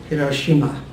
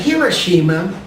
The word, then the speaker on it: Hiroshima: Hiroshima. Is it Hiroshima or Hiroshima? I listened on the internet over and over. I heard subtle variations of Hiroshima. In all variations, ro and shi are distinct syllables.